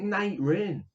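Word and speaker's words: Nightrain: Yeah, because it's Night Rain. It is Night Rain. Now, it's the way it's spelled.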